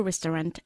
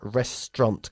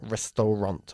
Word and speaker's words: restaurant: By the time I arrived at the restaurant, everyone else had finished eating. Good. Y decimos restaurant con dos sílabas, no restaurant, ¿ok?